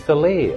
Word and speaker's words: filet: It's filet, of course.